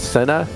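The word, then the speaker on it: Senna: think the mclaren and i don't want to butcher the name i think it's cena it's um you got it yeah but the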